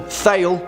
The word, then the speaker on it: Thale: Now, some of you may pronounce this film Thale, which is fine. I mean, it's Tole, but whatever. Say what you want.